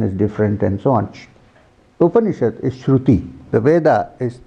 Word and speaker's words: Upanishad: The Upanishad consists of Upa, Ni, and Shad.